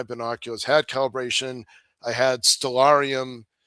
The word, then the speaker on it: Stellarium: The second time I had my binoculars, had calibration, I had Stellarium pronounced stellar ium Stellarium on my phone, which